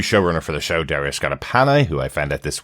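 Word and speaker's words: Scardapane: Uh this episode once again written by the new showrunner for the show, Dario Scarapana, who I found out this week is uh his name is pronounced that way.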